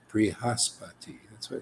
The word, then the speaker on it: Brihaspati: But in the beginning, you say Bri.